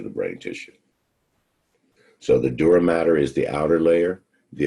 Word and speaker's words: dura mater: layer is called your dura mater it's spelled with one t but is still pronounced matter the dura mater the middle membrane is